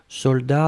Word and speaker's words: soldat: Je regarde, vous l'avez bien écrit, attention save the best, soldat avec un T final, on ne prononce pas le T, mais logiquement il devrait être là, d'accord?